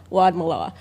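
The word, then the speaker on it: Wadmalaw: Wad Malaw.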